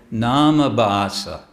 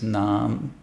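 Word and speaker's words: nāma: devotees will mispronounce um they'll say NASA NASA it's not NASA it's nam nam it's a long a abasa because abasa means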